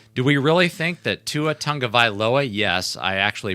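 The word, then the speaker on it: Tagovailoa: with tyree kill do we really think that tuatanga viloa yes i actually pronounced his name correctly do we really think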